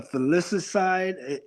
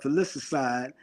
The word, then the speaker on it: filicide: when we talk about men, for men, they usually suffer from or commit what's called a filicide. I'm gonna spell it for you.